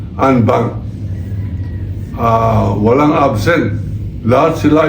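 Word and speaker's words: en banc: Ang ibig sabihin na unbank buong-buo ang prun ang ang spelling po niyan ay NB bank. Pero ang pronunciation po niyan ay unbank.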